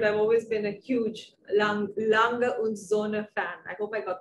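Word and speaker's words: Lange & Söhne: always been a huge long longer zone fan i hope i got that pronunciation right finally wonderful and it's absolutely correct it's alanga and zuna and i know that everybody struggles with the zuna yes we do so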